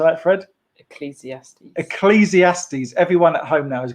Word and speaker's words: Ecclesiastes: say that fred ecclesiaste ecclesiastes everyone at home now is going ecclesiastes um how many syllables er cleezy ass these five syllables in that that's a